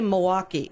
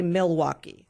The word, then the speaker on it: Milwaukee: We say Milwaukee. We don't say Milwaukee.